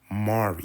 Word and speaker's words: Mari: But how they pronounce it in DC is actually Mari. Her name is actually Mari McCabe.